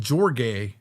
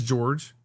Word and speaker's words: George: You said Gorg. My name is George.